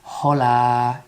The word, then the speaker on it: hola: Hola. Attention to the H, to the silent H at the beginning. It's not hola, it's Hola. It's like we ignore the sound of the H altogether.